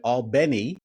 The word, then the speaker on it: Albany: station in Albany Georgia Al Beni as they pronounce it in south Georgia that's interested in you